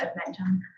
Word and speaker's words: Edmentum: have, looked into both programs, and it's actually pronounced Edmentum. But I've heard very positive things regarding Edmentum and what it could do and things like that.